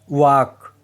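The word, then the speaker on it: walk: अगर एल ए ओ यू के बाद आए तो एल साइलेंट रहता है। Example half almond वाक calf should इन सब में आप देखोगे ए ओ यू के बाद एल आया है। इसीलिए एल साइलेंट है।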